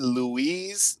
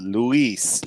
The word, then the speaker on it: Luis: my bad but yeah it's Lewis though it's Luis Luis it's a pay-per-view a